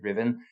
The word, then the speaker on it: Ruthven: His mother, Margaret, before she was married, was called Margaret Riven. So that's one of those funny pronunciations. She spelt Ruthven, Ruthven, but you say Riven.